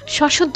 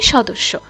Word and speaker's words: সদস্য: সশদ্ধ না হবে সদস্য।